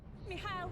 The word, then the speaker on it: Mikhail: Mikhail, wait, don't! Get out of here! Hurry! Just a little closer. Mikhail. Mihail. That's how she pronounces it.